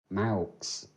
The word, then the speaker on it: Maux: So, Max, obviously my name, but it's actually Maux. Is how you pronounce it.